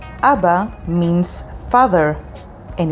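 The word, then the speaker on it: אבא: you ready to learn your first hebrew word abba abba means father and it's spelled with alef bet and alef abba next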